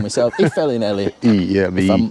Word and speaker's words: Y Felinheli: This little village is called Y Felinheli—no, no, I’m getting it wrong myself. Y Felinheli… If I’m pronouncing that right. It’s a “V,” isn’t it? That’s why it would be “Velin,” wouldn’t it?